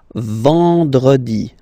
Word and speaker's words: vendredi: Then, E-N, nasal, and it's en. En. So remember, vendredi.